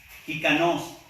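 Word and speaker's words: ἱκανός: Competentes del griego hikanos, así como jícama, pero con la K. J-I-K-A-N-O-S. Le pueden poner acento en la O.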